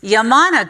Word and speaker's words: Yamana: And I said, it's Yamana gold. He says, no, it's Yamana gold. And then proceeded to tell me about the history of the name Yamana gold.